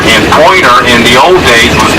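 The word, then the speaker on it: Poyner: We pronounce it Pointer, but in the old island vernacular, just like Smith's Island and Wallops Island and Tangier Island, all there in the Chesapeake, they have their own little vernacular.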